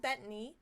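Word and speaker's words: Bettany: name right Paul betany betany okay so it's like Bethany but just not number one again Paul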